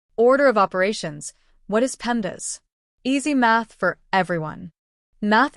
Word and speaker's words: PEMDAS: Just say pendas. Say it like this. Pendas.